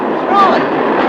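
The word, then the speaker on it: Froy: My name is Troy. You said Troy? No, not Indeed. Troy. I'm sorry, I can't hear. It rhymes with joy.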